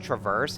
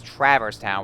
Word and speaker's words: Traverse Town: know I know it's actually supposed to be pronounced traverse and I actually used it a lot of